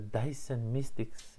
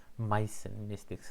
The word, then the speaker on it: Dyson Mystics: enough, and that is the Dyson Mystics event, not the Myson Mystics, how I pronounced it few times in a vlog.